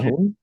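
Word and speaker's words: cajón: It's spelled Cajun. Cajon?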